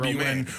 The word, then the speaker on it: Roman: Roman Berkey, MAN, ROH for the pronunciation guys, ROH hyphen MAN, not MAWN, Roman.